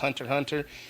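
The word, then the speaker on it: Hunter × Hunter: uh Hunter Hunter or as a lot of people see it stylized Hunter x Hunter, but it's actually pronounced Hunter Hunter.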